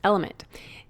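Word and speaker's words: LMNT: of our sponsors LMN element it's spelled l MNT but pronounced element if you haven't heard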